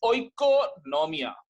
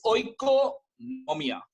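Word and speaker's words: οἰκονομία: This economic word is derived from a Greek word which is called as oikonomia. I am pronouncing again. This word is oikonomia.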